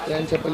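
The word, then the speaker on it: Ian Chappell: इयन चैपल बोलते कि एन चैपल? एन चैपल, हाँ एन चैपल ही बोलते हैं।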